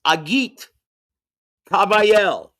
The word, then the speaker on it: Agit Kabayel: And the proper pronunciation, from told to me by ring announcer extraordinaire Thomas Triber, is Agit Kabayel. That's how you pronounce his name.